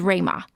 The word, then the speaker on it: Rui Ma: pan daily and my personal Twitter account is Ramah that's spelled rui ma my twitter is GI and